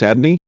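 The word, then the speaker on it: Adonai: this we learn that we are to pronounce the name javea as Adney in prayer or when reciting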